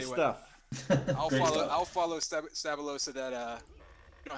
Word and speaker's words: Stab1lo: so this is going to be frantic versus stabo did I pronounce that right ask you did you did great stuff I'll follow I'll follow stabo so that uh you don't have to pronounce